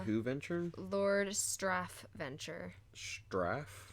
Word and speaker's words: Straff: Venture Lord straff Venture straff yes s t r a FF straff yes spelled like it sounds spelled like it